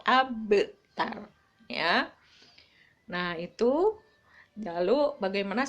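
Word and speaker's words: أبتر: dalam kalimat abtar ya cara membacanya adalah dipantul dipantulkan karena Qalqalah itu artinya memantul jadi bacanya memantul abtar ya Nah itu jaluk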